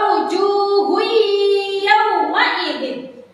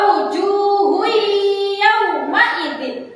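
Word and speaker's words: وجوه يومئذ: Cara bacanya wa wujuhu yauma idzin. Sekali lagi wa wujuhu yauma idzin. Seperti itu ya.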